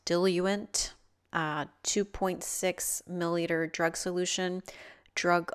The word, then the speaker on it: diluent: Add 2 milliliters of, apparently this word is pronounced diluent, 2.6 milliliter drug solution.